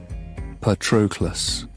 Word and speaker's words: Patroclus: Achilles did not slur my name as people often did, running it together as if in a hurry to be rid of it. Instead, he rang each syllable. Patroclus.